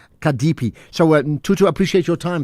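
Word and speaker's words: CADP: and a member of the acronym is C A DP but it's pronounced um Kadepi.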